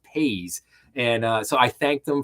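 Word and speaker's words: Paze: basically said that yeah, it's not Paz, it's pronounced Pays, and so I thanked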